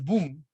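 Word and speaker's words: Bohm: igual manera creo que david boom david bono david boom como quieran pronunciarlo david bum es uno de los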